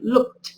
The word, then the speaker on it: looked: Tenemos la ed y acá tenemos la pronunciación looked. Entonces no estamos pronunciando ni la E ni la D, sino que ese sonido de ed se convierte en un sonido de T.